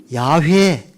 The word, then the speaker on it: 야훼: 그래서 모음 부호를 붙여서 야훼, 이게 히브리의 정확한 신의 이름입니다. 우리가 야훼라는 이름도 많이 들어보셨죠? 이걸 영어식으로 발음을 표기하다 보니까 영어식으로 여호와라 하는데 히브리의 음가는 야훼 하나님이십니다.